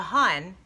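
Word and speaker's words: Hon: A Hun, spelled H-O-N, pronounced H-O-I-N. Hun. Hey, Hun.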